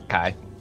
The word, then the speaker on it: chi: Is that how you pronounce it? It looks like an X, right? Yeah. Yeah, it's a Chi.